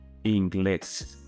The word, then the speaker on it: inglés: Another example would be the word inglés. It ends in an S. You should again apply rule number 1, but it has a stressing mark above the E, so that is a syllable that you need to stress out.